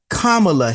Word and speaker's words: Kamala: shook his hand and and said hi I'm kamla Harris and this is who you're going to